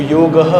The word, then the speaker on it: योग: उसका सही प्रोनाउंसिएशन योग है।